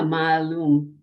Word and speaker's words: Maalum: I thought it was Malum, but I don't know how to pronounce it. Ma. Yeah. See, now we need our teacher. Yeah. Well, yeah, Maalum. That's what Google Translate says.